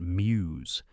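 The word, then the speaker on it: Meux: His name is spelled mux, but you say it muse.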